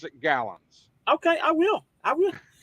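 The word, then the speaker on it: Galanz: galons g a l g a l a n z it's pronounced gallons it's not French it's not Galan it's not all fancy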